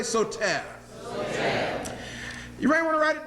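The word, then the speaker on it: Soter: and his nickname was so Ted everybody say so Ted here able to write it down it's spelled s o ter so Ted brothers and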